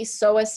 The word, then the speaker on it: psoas: Okay, so the iliopsoas then is going to be made of this one right here, okay, which is called the psoas major, and then this one right here, which is called the iliacus.